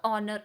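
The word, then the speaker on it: honour: a poem in द ऑनर ऑफ देखिए अब यहां पर आप बोल रहे होंगे मैम यहां पर तो वावल साउंड है क्योंकि एच तो साइलेंट है और यहां पर हम तो ऑनर बोलते हैं यहां पर बात यहां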